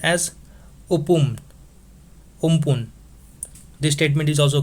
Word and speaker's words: Amphan: And it has been named by Thailand and is pronounced as Umpun. This statement is also correct. This Amphan is pronounced as Umpun as it has been named by Thailand.